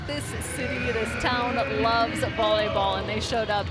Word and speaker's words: LOVB: League one volleyball yes it's lovb but it's pronounced love mission statement to create better life outcomes for